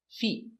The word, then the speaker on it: feet: f e Fe T Feet Again a stop T feet not the short I not fit but the long e feet feet 2 feet 3